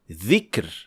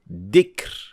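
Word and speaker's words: ذكر: The second mistake is pronouncing dhal as dal. So, for example, saying dhikr as dikr with da sound. These two sounds are completely different, and some learners make the mistake of pronouncing it as zay. So instead of saying dhikr, they would say zikr.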